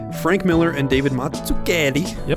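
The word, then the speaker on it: Mazzucchelli: In 1986, Marshall, Frank Miller and David Matsuklli. Yep, good job. You got it right. I shouldn't I probably shouldn't do the accent. Maybe not the accent, but Matsuk Kelly is the correct pronunciation.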